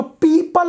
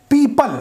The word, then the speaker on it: people: अब देखिए इसका प्रोनाउंसिएशन बहुत सारे लोग गलत लेते हैं। पीपल, मैंने क्या बोला, PEOPLE पीपल। कुछ लोग इसको पीपुल बोलते हैं, पूपुल बोलते हैं, पीपुल्स बोलते हैं, पूपुल्स बोलते हैं, पता